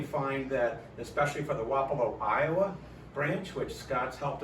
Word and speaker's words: Wapello: that, especially for the Wapello, Iowa branch, which Scott's helped us a lot and been out to Wapello, or Wapello, I guess it's pronounced. Is that how it's pronounced? Wapello. Well, it is Wapello.